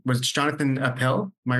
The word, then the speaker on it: Appel: Um Jonathan um and I I never really asked the pronunciation of your last name. Was it Jonathan Appel? Am I right? Appal.